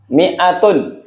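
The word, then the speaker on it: مائة: Miatun. Ayo miatun. Miatun. 100. 100. 100. Penulisan miatun ada dua. Yang begini. Yang pertama disambung semua, yang kedua dipisah tapi bacanya sama-sama pendek.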